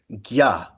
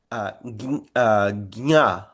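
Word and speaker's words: ज्ञ: And so, in the South, they'll say gnya, and in the North, they'll say gya, and in Maharashtra, they'll say dinya.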